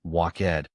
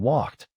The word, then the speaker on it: walked: My first guess was walked because the ending looks like a separate syllable. But in walked, I hear only one beat.